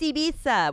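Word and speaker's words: Eivissa: in Spain yeah nice it's actually I iisa I can't say it right but when I when I was doing shows in Barcelona they were correcting me from the stage it's iisa we had like a whole lesson I was like I'll never get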